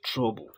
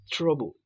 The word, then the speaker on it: TRBL: You can remember by writing TRBL and pronounce it as trouble.